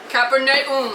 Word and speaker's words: Capernaum: tour guide guy said, "This is how you pronounce it. Capernaum. Capernaum." Capernaum. So it's Capernaum.